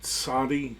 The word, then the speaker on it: Tzadi: Ayin, Pei, Tzadi, that's a TS sound.